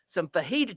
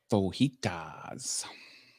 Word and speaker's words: fajita: Fajitas. So that's what's going to happen around here. I like words with a J in them where you don't pronounce the J.